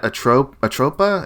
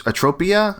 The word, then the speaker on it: Atropia: Yes, and I think I've been calling it Atropa. It's Atropia. I want to get that pronunciation right, but it's a fake word.